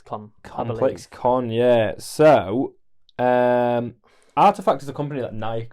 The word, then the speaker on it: RTFKT: You wouldn't see it as Artifact. I was really confused when people referred to it as Artifact. Yeah, that's it, innit? Yeah. It was RTFKT.